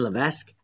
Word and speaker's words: Levesque: Xander by Ryan the Venice how do you pronounce his last name gage the best Ryan Levesque did you read ask Xander yep so we're